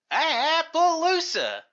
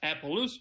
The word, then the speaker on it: Appaloosa: If you're gonna say it right. Appaloosa. The Appaloosa train is also driven by horses.